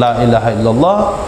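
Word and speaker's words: لا إله إلا الله: Kata Imam Dusuki, ada tiga tempat kesalahan yang sering terjadi dalam pengucapan lailahaillallah. Pertama, lanya pendek. Yang keduanya i-nya tidak tahkik. Yang ketiga illallahnya juga tidak jelas.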